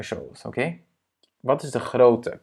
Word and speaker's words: grootte: Wat is de grootte? Quelle est la taille de grootte? Yeah? On le prononce de la même manière.